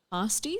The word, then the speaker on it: pasties: Pasties? Is that how you say it? That's how you say it here, but pasties everywhere else. Okay. Okay. Like pasta. Yeah.